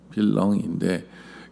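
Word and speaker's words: vilain: 이게 영어에는 빌런이지만 원래 발음대로 빌렁인데 그 이 농부라는 단어예요.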